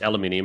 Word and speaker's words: aluminium: So copper involved in everything, aluminium, alumina, or however you say it, the same thing. Aluminium, that's how you say it. How's it? There's no other way of saying it.